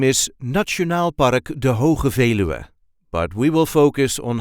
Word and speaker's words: De Veluwe: Netherlands de its full name is National Park de but we will focus on how we normally